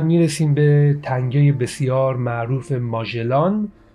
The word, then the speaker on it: ماژلان: به تنگه بسیار معروف ماژلان، که در حقیقت ما فکر کنم ماژلان این تلفظ فرانسویش هست که ما میگیم، در حقیقت ایشون آقای فردیناند و مگیان، این در حقیقت یک دریانورد پرتغالی بوده که این تنگه